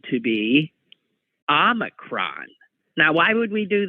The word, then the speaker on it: Omicron: And in fact, I'm pronouncing it using the British pronunciation, Omicron, because the American pronunciation was said to be Omicron.